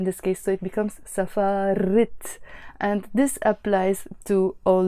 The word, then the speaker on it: سفارة: The word safara on its own means embassy and it finishes with a te marbuta, which we don't pronounce. Usually when the word is on its own we say safara, but when it's followed